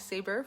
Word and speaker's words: Saber: creative um my name's saber for those of you who don't know me yet pronounce like saber sword so i'm a visionary